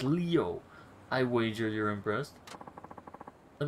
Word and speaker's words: Leo: ] is his name it's written with the kanji for lion to be sure but it's pronounced leo i wager you're impressed